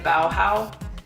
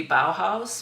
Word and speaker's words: Bauhau5: D liquid lipstick in bowow Bow house no one really knows how to say it bowow it's it's bowow with a five so I think it's supposed to be bow house but anyway uh liquid